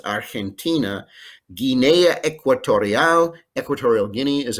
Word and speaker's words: Argentina: chile paraguay uruguay argentina g in front of an e or an i is pronounced like a strong h so it's argentina guinea equatorial equatorial guinea